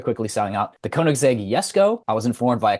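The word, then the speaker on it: Jesko: selling out the koneg yesco I was informed by a commentary it is in fact pronounced yesco anyways let me check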